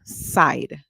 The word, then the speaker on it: side: d the e at the end is silent so we hear the I make a long song I all right so the word is side and we did that